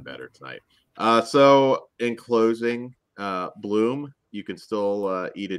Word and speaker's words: Blum: Blum, I'll say his name properly. Bloom.